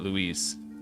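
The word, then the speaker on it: Luis: amazing LS is it lwis or Louise I know there's a professional Magic the Gathering player who pronounces it Louise Louise Scott Vargas yeah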